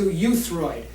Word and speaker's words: euthyroid: So we want to actually bring you up to euthyroid, which means right in the middle. How do you say that? Euthyroid, as in it's E-U-T-H, but you can use it phonetically as Y-O-U.